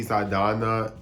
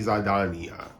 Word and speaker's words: Saldaña: going to, I guess, pronounce her name in the Spanish way versus the English way. People usually say Zoe Saldana in English, but just to be correct, I'm gonna say Zoe Saldana, okay?